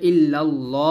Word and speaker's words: ইল্লাল্লাহ: জবর অথবা পেশ আসলে সেক্ষেত্রে আমরা এখানে ইল্লাল্লাহ বলবো না বলতে হবে ইল্লাল্লাহ বলতে হবে ল ল বলব এটাকে মোটা বলা হয় বা উর বলা হয় তো আমরা এখন উচ্চারণটা